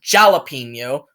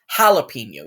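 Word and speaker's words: jalapeño: So, like a word like jalapeno, you don't say it like jalapeno, like a classic American would say. You say jalapeno. You say it like an H.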